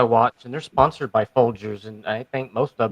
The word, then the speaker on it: Folgers: How do you pronounce it? Folgers without a D. It's Folgers. You guys know it changed from Colombian coffee.